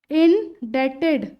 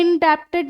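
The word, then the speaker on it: indebted: परोपकार रहेगा, तो इंडेटेड, इनडेटेड। डेटेड क्यों बोल रही हूं मैं, क्योंकि बी साइलेंट होता है, इनडेप्टेड नहीं बोलोगे, इनडेटेड।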